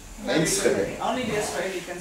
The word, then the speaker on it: Enschede: had it written down, I'd be able to pronounce it. Enschede. Enschede.